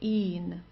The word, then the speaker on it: ihn: Okay, ihn, ihn. So just a long I and then an N.